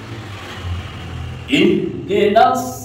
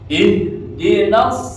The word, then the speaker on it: ihdinas: Ihdinas. Nah, nas masuk huruf shad. Ihdinas pakai shad ya, bukan sin.